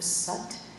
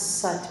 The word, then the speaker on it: Sat: From here, keeping your hands on your thighs, inhale with the sound of sut. And as you pronounce sut, make it sound like a snake.